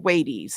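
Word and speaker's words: Thwaites: Florida and it's called thees it's looks like the word wait like wait wait wait for me but it has a th in front of it and it has a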